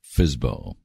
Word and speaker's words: FSBO: A private seller is referred to as a for sale by owner, or FSBO, which is pronounced FSBO.